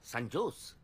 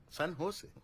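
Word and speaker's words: San Jose: ও বাবা, সানজোস। সান হোসে। সান হোসে। হ্যাঁ, সান হোসে। জের উচ্চারণটা এইচ এর মতো হবে, সান হোসে।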